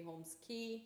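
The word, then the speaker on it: Holmes Cay: Eric Key, and that's how his name is pronounced. So hence it should be Holmes Key.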